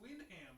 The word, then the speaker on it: Wyndham: It's Windham though. That's the way it's spelled. That's how you spell it.